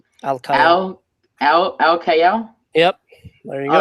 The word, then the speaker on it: Alkayyal: It's How do you say your last Alkayyal. name? Alkayyal. Al Kayal?